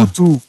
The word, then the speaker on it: Rurutu: Rurutu, hein, donc la vraie prononciation, si j'ai bien tout compris, c'est bien ça? Rurutu.